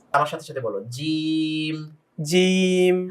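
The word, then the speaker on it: جيم: জিম, হ্যাঁ, একটু আওয়াজটা শক্ত হবে এবং একটু টেনে হবে।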